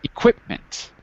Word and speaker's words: equipment: time repeat the word equipment equipment equipment second syllable is the stress equipment equipment right be careful because it's not equipment but equipment on the qu is a stress okay and again if